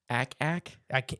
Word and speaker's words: ack: Ack? I always say it wrong, but it's ack.